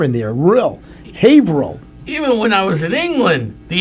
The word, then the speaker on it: Haverhill: Yes, and I thought, you guys pronounce it Haverhill? Yes. Oh, you thought it was Haverhill?